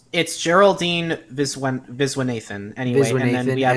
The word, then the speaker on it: Viswanathan: Geraldine Viswanathan. I probably butchered that. I'm sorry. I'm so sorry. It's Geraldine Viswanathan.